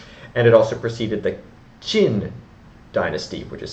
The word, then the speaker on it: Qin: And it also preceded the Qin dynasty, which is spelled Q-I-N.